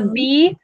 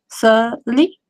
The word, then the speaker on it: subtly: So the Subtly. B is silent. Subtly.